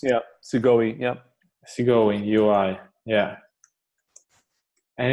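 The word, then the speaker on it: Segoe: How is it pronounced? Yeah, Sigoi.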